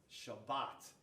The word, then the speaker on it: Shabbat: Shabbat is how they say it in Hebrew.